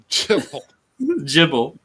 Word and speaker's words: JBL: Jibble. Not JBL. He pronounces the acronym Jibble.